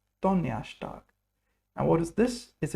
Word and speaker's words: Donnerstag: Donnerstag, not Donnerstag, Donnerstag, because the R is pronounced like er, Donnerstag.